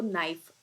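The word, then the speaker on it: knife: इसमें के जो है वो साइलेंट होता है, स्पेलिंग में के आएगा, लेकिन जब इसको प्रोनाउंसिएशन करते हैं तो नाइफ, NIFE से इसका साउंड शो होता है, ठीक है जी।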